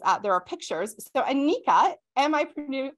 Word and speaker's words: Anika: that there is uh there are pictures so Anika am I pronouncing your name correctly you are yes wonderful